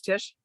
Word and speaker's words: Tisch: to invest this help how do you say is it tish yeah you're on mute but it's tisch yeah tisch school of